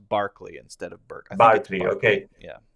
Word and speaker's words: Berkeley: a really believer of berkeley i think it's pronounced barkley instead of burgundy okay yeah you are like